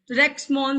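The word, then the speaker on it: Maughan: Great leader थे जी, रेक्समोन सर। GH silent है, रेक्समोन, म को आकी मात्रा ऊपर वो खाली कटोरी और न मोन ही बोलना है जी।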